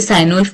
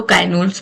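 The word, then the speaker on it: Cynewulf: सेन आते हैं सैनवुल्फ, आप उसे साइन उल्फ प्रोनाउंस कर लो, काइन उल्फ प्रोनाउंस कर लो।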